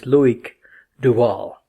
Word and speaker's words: Loïc Duval: with your fellow Francais and Le Mans winner Loïc Duval. And I had to ask him before the interview what is the correct pronunciation, because I hear so many variations. And he said it's Loïc Duval.